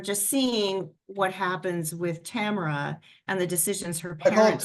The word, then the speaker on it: Tamara: seeing what happens with Tamara and the decisions her parents tomorrow I said tomorrow I apologize so you it's Tamara you pronounce a Tamara yeah Tamara yeah thank you for not correcting